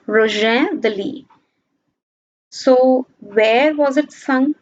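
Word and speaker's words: Rouget de Lisle: This is the French pronunciation, Roger de Lis.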